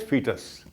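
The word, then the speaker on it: foetus: zot and fetus us even though the word is f OE but we pronounce it as fetus so first difference is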